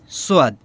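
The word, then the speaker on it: صاد: তারপরে আসি সোয়াদ, সোয়াদ, সোয়াদ, হ্যাঁ, যেটা স স এরকম উচ্চারণ, তাহলে সোয়াদ, সোয়াদ, সোয়াদ, সোয়াদ, সোয়াদ, সোয়াদ, সোয়াদ, হ্যাঁ।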